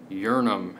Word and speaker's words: Yharnam: to talk about bloodborne and the meaning of yharnam or uranum as it may be pronounced now the definitions of the lands the